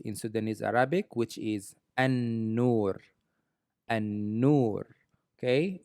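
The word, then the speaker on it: النور: Sudanese Arabic, which is an-nur. An-nur. Okay, originally it's supposed to read al-nur, but since n is considered as sun letter, then the L is gone. So it's an-nur.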